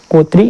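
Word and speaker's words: coterie: यहाँ पे ये जो इसका प्रोनाउंसिएशन है COTERI, इसको बोलते हैं कोतरी। क्या बोलते हैं? कोतरी।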